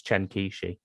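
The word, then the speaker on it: Chen Qiushi: is it chen kishi i'm terrible with chinese pronunciations but i think it's chen kishi uh he got black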